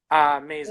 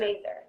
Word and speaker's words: Mazur: I'm not going to butcher your last name, so pronounce that for me. Mazur. Mazur.